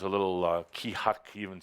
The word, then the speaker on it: Keahak: It is pronounced Kihak. Kihak. That sound fun? You can say it. Kihak.